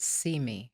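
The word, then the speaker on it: CIME: correct that is correct we pronounce it see me for short c-i-m-e because it's about representation and what we see who we see how we see through the media there you go see me so tell us a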